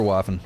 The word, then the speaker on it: Waffin: No, it's for sure Waffin. It's like waffle, but with an N.